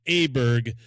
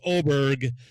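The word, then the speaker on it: Åberg: You're going to call Ludwig Aberg, but it's not. It's Oberg.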